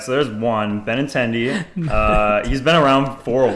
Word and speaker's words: Benintendi: It's Andrew Benintendi.